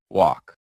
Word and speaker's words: walk: Silent L. Silent L is super sneaky. Walk. Walk. Walk. Talk. Talk. Talk. Come. Come. Come. Half chalk. Chalk. Chalk. Salmon. Salmon. Salmon. Just pretend the L is on vacation.